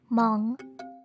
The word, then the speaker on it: Hmong: people have difficulty saying the word hmong uh the h is supposed to be silent so when i grew